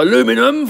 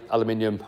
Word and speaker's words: aluminium: Well, I'm in England and in England we say aluminium.